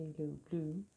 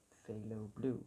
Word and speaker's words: phthalo blue: why i don't know it's just me mispronouncing that the whole time is not because i don't know that it's phthalo blue i just love going